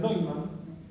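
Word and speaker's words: Neumann: La segunda se llaman condiciones de Neyman. Se pronuncian Neuman y se escribe así.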